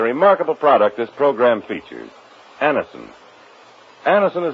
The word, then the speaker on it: Anacin: You can get Anison at any drug counter. It's spelled Anacin.